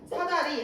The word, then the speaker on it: 사다리: 발음이 좀 다르다라는 거야 사다리 할 때이가 약간 울린 사다 리 사다리 뭐 이렇게 울리네요 뭐할 때 이렇게 비이